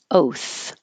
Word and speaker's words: oath: D either threaten threaten oath oath the only thing to notice about the o is that it should be the American o for American English oath not just a pure o like oath oath remember that